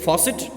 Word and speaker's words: faucet: box switches and facets underline that word Fawcett you will have to pronounce it as faucet and the synonym of